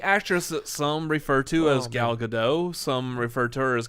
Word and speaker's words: Gal Gadot: gal gadot gal gadot okay you pronounce the t he refers to her as gal gadot she does say gal gadot you're wrong she pronounces the t well i like thinking